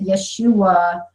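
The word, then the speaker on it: ישוע: told me once that Yeshua was the proper way to pronounce Jesus's name but again even that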